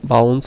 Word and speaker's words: bounds: আসছে index out অফ বান্ডেল exception sorry উচ্চারণটা হবে বাউন্স এক্সেপশন তো মূলত এই এক্সেপশনের